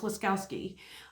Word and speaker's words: Waskowski: Nick Waskowski, I think his last name is pronounced Waskowski or Wachowski. No, it's Waskowski.